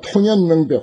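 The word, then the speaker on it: 洞然明白: 그래 지극한 도가 통연명백 환하게 밝아지려면은 이 통자를 이제 여기서 이제 통연명백이라 그렇게 발음해요. 동자죠. 무슨 동 무슨 동 청룡동 남산동 할 때 그런 동자이지만은 여기서 이제 통이라고 발음합니다.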